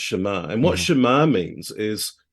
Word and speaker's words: Shema: It's spelled S-A-M-A, but pronounced Shema.